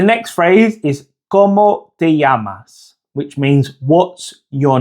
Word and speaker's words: llamas: Okay, so the next phrase is ¿Cómo te llamas? Which means what's your name? ¿Cómo te llamas? ¿Cómo te llamas? Now the double L in Spanish is pronounced like an English Y.